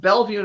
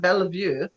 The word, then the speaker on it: Bellevue: all of them and we have Bellevue Nebraska it's not Bellevue we have Papillion Nebraska it's not happy all you know there's Pierre South Dakota it's not Pierre and it's like that's just